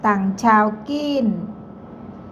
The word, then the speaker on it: ตั่งเฉาคีน: ภาษา จีน อ่าน ว่า ตั่ง ชาว กิ้น ตั่ง ชาว กิ้น มัน ชื่อ โรง พยาบาล สวัสดี เพื่อน ๆ ทุก